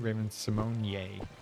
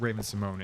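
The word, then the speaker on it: Raven-Symoné: life as well right Raven Simone I think she said that everybody said her name wrong it's not Raven Simone it's Raven Simone y if I remember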